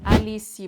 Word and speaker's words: Alice: Alice Braga. Alice, not Alice. Alice, very open A.